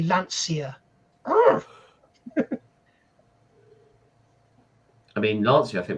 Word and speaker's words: Lancia: I think when people say Lancia. I mean, Lancia, I think would be said Lancia. It's Lancia. Yeah, Lancia.